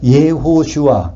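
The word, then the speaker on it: יהושע: 그러니까 예호슈아, 그것은 히브리 발음이고 그거를 헬라어식 발음하면 예수아, 예수가 되는 거예요.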